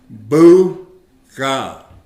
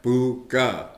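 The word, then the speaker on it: pookaa: We pronounce it buga. All right? Buga.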